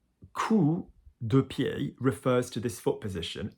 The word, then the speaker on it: coup de pied: But the pronunciation, dancers, is coup de pied. Alors coup de pied, not coup de pied. Try not to say coup, because anybody French in the class just laughs, because coup is like arse, all right?